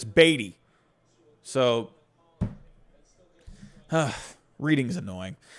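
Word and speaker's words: Beaty: matt matt beatty right it should be matt beatty it's e a that's a long e matt beatty but it's baity so huh reading is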